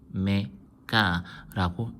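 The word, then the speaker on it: ω: W라고 안 하고요. 요거는 오메가라고 읽습니다.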